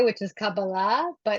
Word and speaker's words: Kabbalah: It's I say it the Hebrew way, which is Kabbalah, but Kabbalah.